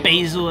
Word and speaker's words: basil: mozzarella and the and the B Basel or the basil as you Americans say and yeah I just